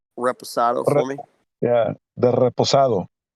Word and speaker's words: Reposado: Reposado sorry to say again can you properly pronounce Reposado for me yeah the reposado uh it's so